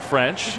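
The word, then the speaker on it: Ffrench: love to see that he's got an extra F in his last Saints French with two F's maybe fortitude does that still sound the same it does you still pronounce it French making sure you see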